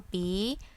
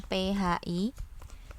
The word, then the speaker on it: pi: Yang penting kalian paham kalau ini tuh dibacanyapi tanpa ha ya Jadi bukan phi tapi Pi nah pi ini apa